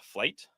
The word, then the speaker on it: Flyte: um it's built on this open source called flight which you can check out called Flyte um it's spelled that way because it started as